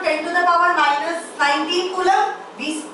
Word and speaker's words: Coulomb: कूलम का spelling बता। COULOMB कूलम। COULOMB कूलम।